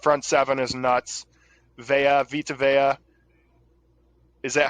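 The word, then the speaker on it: Vita Vea: __ ] that front seven is nuts veya vitaveya is that how you pronounce his name yes the guy who lit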